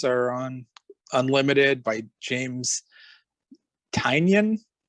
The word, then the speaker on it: Tynion: I think the first 2 volumes are on Unlimited by James Tynion. I'm going to say it like that, like onion.